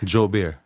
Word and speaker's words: Joubert: We want to welcome, and I'm going to be Creole tonight because I'm going to pronounce his last name like it's supposed to be pronounced.